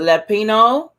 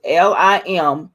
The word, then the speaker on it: Limpopo: Is it Lampopo? It's Limpopo, or Zimbabwe?